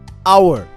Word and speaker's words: hour: example in the word our the H is silent it begins with a vowel sound ah so we use